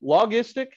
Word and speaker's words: logistic: do we say that logistic is it a hard g or soft yeah it's it's more like a j sound we're going to study